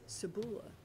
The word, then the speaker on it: Sebula: I'm going to put the accent on the U. Sebula.